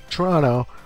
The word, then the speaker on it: Toronto: Toronto, the first O is silent.